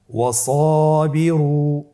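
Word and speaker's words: وَاصْبِرُوا: এরপরে সাদের উদাহরণ ওয়াসাবিরু। সাদের পরে কিন্তু আলিফ হরফটি রয়েছে, ওয়াসাবিরু। এখানে আপনি যদি ওয়াসাবিরু বলেন তাহলে উচ্চারণ বিশুদ্ধ হবে না।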